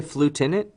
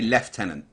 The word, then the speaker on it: lieutenant: Y'all say flutenant? We say lieutenant.